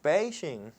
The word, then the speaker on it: Beijing: Aunque si vamos a decir Beijing, tal vez sería mejor decirlo con la pronunciación china, que es Beijing.